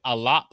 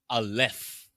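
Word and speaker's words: אלף: Instead of pronouncing it alap, they'll pronounce it aleph with an F sound.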